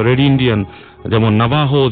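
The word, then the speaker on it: Navajo: যায় একটা সময় ও এটা কারা বিলিভ করে নাবাহুরা নাবাহু ইন্ডিয়ানসরা যদি লেখায় আসে নাবাজো বাট একচুয়ালি এটা প্রোনাউন্স হচ্ছে নাবাহো আচ্ছা এই নাবাহু সম্পর্কে একটু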